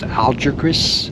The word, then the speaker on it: Algeciras: That's the town of, I believe it's pronounced Algeciras.